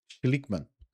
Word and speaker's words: Schlickmann: Bom, nós estamos recebendo, vou me ajeitar na cadeira aqui, nós estamos recebendo o Carlos Schlickmann. Excelente, tá? Perfeita a pronúncia. Já vou sair daqui falando alemão hoje, viu? Schlickmann.